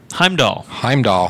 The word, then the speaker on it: Heimdall: I can hide while keep pronouncing my guy's name wrong. Heimdall.